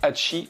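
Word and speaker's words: 八: il faut savoir que le 8 ca se prononce hachey en japonais et du coup les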